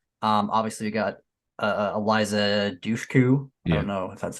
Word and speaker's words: Eliza Dushku: wrong turn one um obviously we got uh Eliza Dushku I don't know if that's how you say